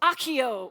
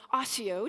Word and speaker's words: Accio: magic wand and says, Accio, or Ossio, depending on your pronunciation.